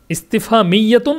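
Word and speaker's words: استفهامية: গেছে সাকিন পড়ে গেছে এখানে তাসদিদ হবে হ্যাঁ ইস্তেফা মিয়াতু হবে এটাকে কেউ ভুল কইরেন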